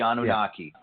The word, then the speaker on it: Anunnaki: He's obsessed with them kind of a little bit, and he's asked about the excuse me if I pronounce this incorrectly, the Anunnaki. Is that right? The Anunnaki.